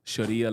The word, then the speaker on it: Sharia: Sharia is fine. You can say Sharia.